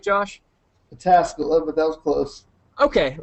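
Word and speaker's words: Pataskala: pastor at um Tri Village Christian Church in pescala Ohio did I pronounce that right Josh patasala but that was close Okay well close close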